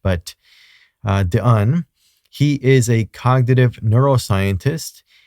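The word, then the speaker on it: Stanislas Dehaene: Uh this gentleman his name is Stanislas Dion I think he's that's how you pronounce it because he's French but uh Don he is a cognitive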